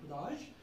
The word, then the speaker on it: rage: Spelling is same as rage, but the meaning is different, and the pronunciation is of course different. Raj, Raj is rabies.